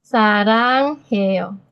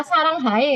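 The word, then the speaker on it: 사랑해: Sarang heo. Sarangheo. Di sini kan saya punya huruf E nih. Iya. Nggak saya baca sarang hae kan. Bacanya kan Saranghae. sarang he gitu kan ya. Bacanya pakai huruf E.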